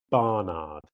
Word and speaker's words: Barnard: It has to be Barnard and it has to be very clear.